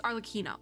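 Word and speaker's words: Arlecchino: a k sound so it's arloquino okay we got that now we got that but I can't do an Italian accent so it's great okay our lakina all right we now know how to pronounce it so so all three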